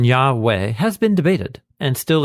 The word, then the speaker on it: Yahweh: are putting out all the evidence for why Yahweh is the most original form of the pronunciation one is in this passage it's a